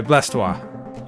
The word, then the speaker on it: Blastoise: You pronounce it Blastoise? Sorry, Blastoise.